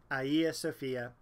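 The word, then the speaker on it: Hagia Sophia: Italy then we're going to look at the Ayasofya and no one pronounces the name of this church correctly you'll hear it all sorts of different ways but it is officially ieo Sophia the name translates into holy wisdom the church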